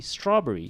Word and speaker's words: strawberry: iron symbol all right but when you actually say strawberry strawberry strawberry there is no vowel in between the bur and the red but malay pronunciation has a schwa all right so strawberry